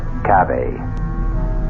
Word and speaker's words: cave: word spelled the same way C A but pronounced cave it means beware our cast included Marian seldes